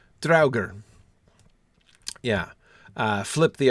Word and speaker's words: Draugr: JJ was saying, how do you pronounce the word Draugr? D-R-A-U-G-R. Yeah, well, it would, the A-U would be an ow. Draugr.